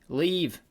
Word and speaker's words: live: this would work thieve leave live so live is pronounced leave what and thrave is